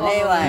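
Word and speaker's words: 令和: 아, 레와. 레와 레이와인데 이걸 발음을 레이와는 아니고 레와 발음.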